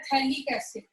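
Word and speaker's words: phthalic acid: Common name होता है थैलिक एसिड। पीएच यहाँ पे साइलेंट है, इसका कॉमन नेम क्या है?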